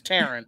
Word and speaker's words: Teran: how you doing terran no it's not duran it's terran or i'll be like